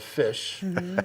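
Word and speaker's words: Phish: So there's another band called Fish. It's spelled with a PH.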